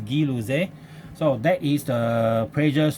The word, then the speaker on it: Gay-Lussac: Okay, of course we don't pronounce as Gay-Lussac law. Okay, it is not pronounced as Gay-Lussac's law because this is a French, so we pronounce as Guy-Lussac. Okay, Guy-Lussac pronounced as this one,